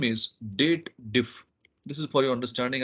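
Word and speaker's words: DATEDIF: if formula is there they should read it as dated if but technically this is a date formula so we must read it as date then little bit pause and if so date diff is the right pronunciation for this formula so now over here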